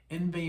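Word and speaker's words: Yngwie: in in i guess i'm going to say it like you say in the united states envy malmsteen or as i call them inguinal um made a record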